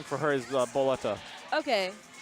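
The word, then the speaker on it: Bulleta: BB Hood, the Japanese name for her is Boletta. Okay. Boletta. Or So like Baretta. Or if you say it with the Japanese accent.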